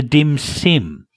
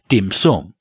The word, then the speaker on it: dim sum: and it was called the dim sim ah of course that this is just Australians mispronouncing dim sum but so that so